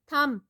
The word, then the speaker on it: thumb: Thumb, B is silent.